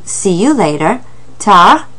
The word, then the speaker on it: tard: Or à plus tard, which is another way of saying see you later, tard. That D is silent on that word tard, so careful with that.